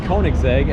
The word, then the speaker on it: Koenigsegg: It's Koenigsegg, and I believe this is the Jesco, and it is a turbocharged 3-cylinder that makes about 1,000 horsepower.